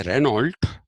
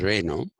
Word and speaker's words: Renault: Foucault is Michel, Michel, Foucault, okay, Foucault, Foucault, as Renault is Renault, the car. We say Renault, but it is Renault. That's a French pronunciation.